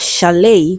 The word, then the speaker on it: chalet: We have chalet, which is also a voiceless sound.